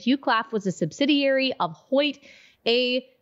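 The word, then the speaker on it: Hoechst: how to pronounce this host host or host AG upon its name oh it's pronounced Hoyt got it in there uh Hoyt AG upon its name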